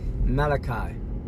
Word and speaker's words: Malachi: She said Malachi. Malachi is how you pronounce.